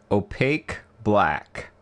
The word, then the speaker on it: OP Black: a pronunciation guide here pronounced opaque black or opalac oh black oh plaque say it